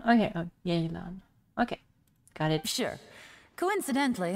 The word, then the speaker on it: Yelan: It's pronounced Yelan, not Yelan. Okay, oh, Yelan.